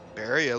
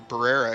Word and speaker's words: Barrera: Barria looking to have or Barrera, excuse me. I don't know why I keep saying his name wrong.